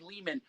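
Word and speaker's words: Lehman: It's me, Ari Leman. Rhymes with demon.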